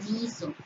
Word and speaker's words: guiso: Por ejemplo, guiso. Se escribe GUI, pero no se dice WI, se dice guiso.